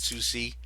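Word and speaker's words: Sucy: SU that's her name that's what I learned how you say it Susi so that's how it's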